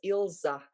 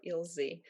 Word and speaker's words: Ilze: being pronounced like that plus i really don't like my name being pronounced as ilsa with an ending ah i just hate it